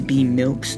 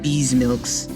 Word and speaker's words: Be Milks: things about me uh my name is be milks that's how you pronounce it be milks not bees milks oh aam matu says